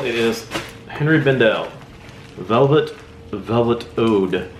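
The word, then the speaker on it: oud: It is Henry Bendel Velvet Ode. O-U-D, Ode, I think is how you say that.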